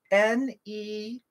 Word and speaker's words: Nemadji: I'm going to say it, spell it for you. N-E-M-A-D-J-I.